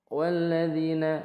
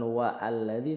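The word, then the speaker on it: وَالَّذِينَ: kemudian ayat ke empat walladzina Nah ya kan jadi kalau semisal alladzi ini di tengah jatuhnya walladzi bukan wa alladzi tapi walladzina dzi ini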